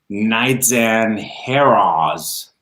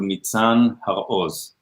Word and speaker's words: Nitzan Haroz: name correctly yeah my my name is pronounced in Hebrew neat son of a hose so my last name is actually comprised a combination of two words have and O's so it sounds like we all have fears